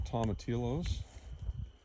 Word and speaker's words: tomatillos: Anyway, here's some tomatillos. Lots of those growing. The bees seem to really like the blossoms on the tomatillos. Tomatillos, I think is how you pronounce it.